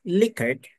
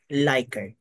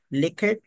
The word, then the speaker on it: Likert: Define what is a liquor scale liquor scale pronounced as liquor not lier so a lot of people mispronounce it it should be liquor not lier it is named after it's in Mentor an